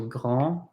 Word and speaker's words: grand: This is not grande, but grand. We do not pronounce the D. This is not petite, but petit. We do not pronounce that final T. This is not lent, this is lent. We do not pronounce the final T.